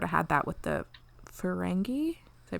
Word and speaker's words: Ferengi: mean we sort of had that with the ferengi did i pronounce that one right you did pronounce it correctly yeah episode with picard yes making progress instead of ferengay yeah yeah um with like picard that vengeance